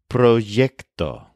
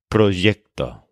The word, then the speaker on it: proyecto: with the word word for project which is proo this is spelled p r y e c proo for example they're going to help me with